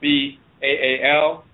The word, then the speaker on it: Baal: Sometimes they'll spell it B-E-L or B-A-A-L, but it's Baal.